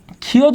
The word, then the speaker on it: ক্ষয়: ঠিক আছে, আমরা যদি বলি ক্ষয়, তাহলে এর উচ্চারণটা কি হয়? খ অন্তস্থীয় ক্ষয়।